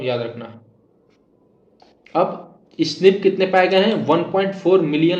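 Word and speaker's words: SNP: base differences A एन एस एन P single nucleotide पॉलीमोर्फस pronounce स्निप occurs in humans देखो कितना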